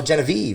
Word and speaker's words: Genivive: and i also have jenny v genevieve oh genevieve i'm sorry i i mispronounced that earlier um you guys are hailing